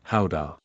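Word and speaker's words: Gouda: Guda cheese, the pride of the nation, pronounced ha.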